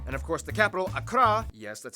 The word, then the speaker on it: Accra: ho and tamale and of course the capital akra yes that's how you pronounce it akra located in the southeast along